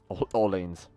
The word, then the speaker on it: Orleans: Orleans. Orleans. American pronunciation.